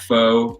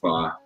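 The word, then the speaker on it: phở: I used to pronounce it pho. Now I pronounce it pho.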